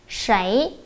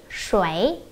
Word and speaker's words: 谁: Và từ này có hai cách phát âm các bạn nha. Một là 谁, hai là 谁. 谁, 谁.